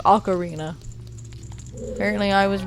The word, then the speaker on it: ocarina: ocarina of time I used to always say ocarina apparently it's pronounced ocarina apparently I was wrong I've been wrong for